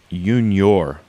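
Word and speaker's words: Unior: I say it right yor so it's it's just like Union but without with an r on the end okay u n i o r they're out of Slovenia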